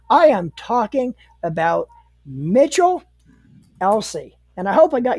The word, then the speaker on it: Elsey: couple weeks guys I am talking about Mitchell Elsie and I hope I got your last name pronounced right yep you got it right you're